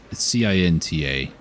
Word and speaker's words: Cinta: There's a bow called the Cinta, or it's C-I-N-T-A, how I pronounce it, Cinta.